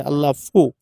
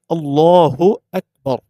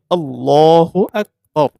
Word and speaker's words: আল্লাহু আকবার: অনেকে আজান দেওয়ার ক্ষেত্রে আল্লাহু আকবার একামতের ক্ষেত্রে আল্লাহ ফু এই যে ফু বলে ফা উচ্চারণ করে বা বাংলা ফ পরস্কার ফু উচ্চারণ এটা হচ্ছে সম্পূর্ণ ভুল এখানে হচ্ছে হা পেশ ফু হ্যাঁ হর সুকার হু আল্লাহু আকবার এটা হচ্ছে সঠিক উচ্চারণ এই ভুলটা আমরা করবো